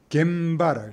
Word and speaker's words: 現場: 그 현장이라면 겐조우라 할것 같은데 그렇게 안 합니다. 장소 장자 아니게 장소를 할때 이때는 바라오랍니다. 일본식 장소를 할 때는 바라오랍니다. 바. 이 바가 굉장히 많이 씁니다. 그래서 음과 훈을 읽을 때는 이렇게 들어간다는 거죠. 이렇게. 이렇게 들어갑니다. 음과 훈, 이렇게 들어갑니다. 그 모습을, 이런 식으로 한 겁니다. 현장은 겐바라고 했습니다. 겐바. 공장은 공자가 코어라고 했습니다.